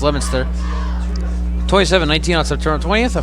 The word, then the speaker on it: Leominster: They dropped their second game of the season against Leominster, excuse me, it's pronounced, it said Leominster, but it's pronounced Leominster.